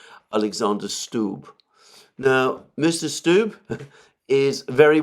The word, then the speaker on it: Alexander Stubb: president of Finland, Alexander, I believe his name is pronounced Alexander Stubb.